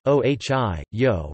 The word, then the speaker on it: Ohi:yo': from the Seneca language in Iroquois and language Ohi yo roughly pronounced OG yo with the vowel in he